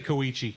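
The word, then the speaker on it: Kōichi: Say Koichi. Koichi. Thank you. Koichi. Sorry. I pronounce terrible with names sometimes.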